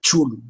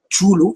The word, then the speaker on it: Cthulhu: De hecho, tanto el nombre Chulu como el nombre Necronomicón son nombres que oyó